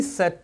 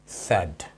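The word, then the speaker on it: said: चले तो इसका प्रोनंसिएशन है सैड, सेड नहीं है, ठीक है।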